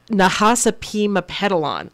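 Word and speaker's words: Nahasapeemapetilon: Nahasapima Pedalon. Oh, I pronounced it right.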